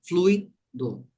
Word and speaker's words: fluido: mesma palavra é assim essa palavra tem duas pronúncias fluido pronunciem fluido fluido isso e ISO aqui é fluído isso aí Henrique do verbo fluir isso vamos lá então